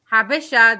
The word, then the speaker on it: Habesha: the fucking chat right best habit is an arabic habesha this is how we pronounce it like yeah we